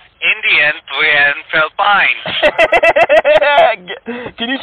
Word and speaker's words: Philippines: We are in country Philpine. I mean, we are Philippines.